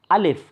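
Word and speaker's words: ألف: আলিফ উচ্চারণ হয় আলিফ, যে সামনের ওপরের 2 দাঁত, সামনের ওপরের 2 দাঁত নিচের ঠোঁটের পেটের সঙ্গে লাগবে।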